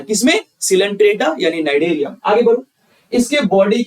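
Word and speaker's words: Cnidaria: यहाँ पे सी साइलेंट है तो ठीक है ना, यहाँ पे नाइडेरिया में सी साइलेंट कर देना है।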